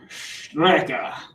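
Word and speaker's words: Strecke: t uh it comes from the german word strika you gotta say it like that you gotta like yell it um strck you know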